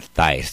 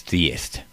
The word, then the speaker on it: theist: it's not theist, it's theist. You're not theist. So you might want to pronounce that different the next time you read one of your blogs.